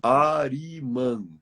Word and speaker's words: Arimã: Arimã. A de amor, R de rei, I de isso, M de Maria, A. Ari, Arimã. Arimã. Arimã.